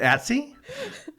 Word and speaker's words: IATSE: I say it Otzi like Yahtzee. No. Is it Atsy? Like Patsy?